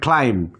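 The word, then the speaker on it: climb: বি এর আগে আসছে সো আমরা কিন্তু বিটা সাইলেন্ট করে দিয়েছি আমরা কিন্তু পড়তেছি আমরা কি পড়তেছি বোম এরপরে আছে ক্লাইম্ব ক্লাইম্ব এমটা বি এর আগে আছে আমরা পড়তেছি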